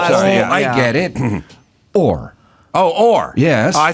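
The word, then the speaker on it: Oher: Orr. Oh, Orr. Yes. Oh, I thought it'd be whore. What is, how do you spell? I spell fine. How do you spell for Michael Orr?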